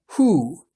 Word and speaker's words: 湖: 河南、 The Chinese word for lake sounds like hu.